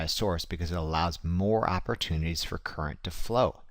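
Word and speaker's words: mho: upside-down ohm get it mo is ohm pronounced backwards not kidding look it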